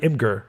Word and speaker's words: Imgur: to the link to it's on uh uh imgur or mjr depending on you wanna pronounce it um uh is a set of